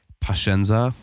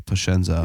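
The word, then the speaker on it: pazienza: does say I guess is pashenza which isn't or sorry I just said it wrong it's pashensei but technically it should be pushenzo it's just the dialect but it just means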